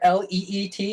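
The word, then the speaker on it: leet: right off Elite yeah l33t I'm sorry l-e-e-t is how you pronounce it but it's one three three seven um I don't really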